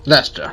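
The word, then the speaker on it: Leicester: for students from the leester alliance Lester okay so so I was pronouncing that correctly I think we could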